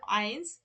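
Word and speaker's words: eins: বলি এখানে টু বলি কিন্তু ওদের এই শূন্যটাকে কি বলে নূল অন টাকে বলে আইনস টু টাকে বলে হচ্ছে সোয়াই মানে এরকম উচ্চারণগত ওদের পার্থক্য আছে আচ্ছা তো কিন্তু এটা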